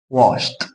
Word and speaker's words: washed: هنا washed ولا washed؟ washed. washed. washed. washed. هنا ينطق تي.